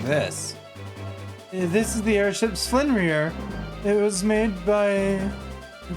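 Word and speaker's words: Sleipnir: It's pronounced Slinrear. Can I get my tongue to do this correctly? No. I'm gonna give up now. Slipnir is the easy way to pronounce it. Slinrear, close enough. It is closer to the correct pronunciation.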